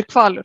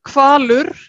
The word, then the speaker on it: Hvalur: Ja, för det känns Honfridur, för Honfridur du uttalar h:et som ett kvalur var väl. Det är inte ett stumt h. Ja, man säger kvalur.